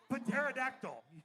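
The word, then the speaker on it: pterodactyl: but that potomac obviously when you have a p and a t next to each other it's pronounced for just a p law of area like pyterodactyl right all right i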